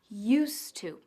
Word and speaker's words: used to: que ya no hacemos a la hora de pronunciar Used To juntamos las dos palabras en una de esta manera Used To como si hubiera una d dicho esto no olvides